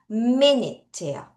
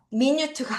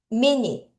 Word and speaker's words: minute: minut예요. 미니트가 아니라 minut 다시 minut 아, 요건 좀 어렵겠다.